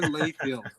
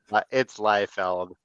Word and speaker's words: Liefeld: That is a mispronunciation. It's Liefeld.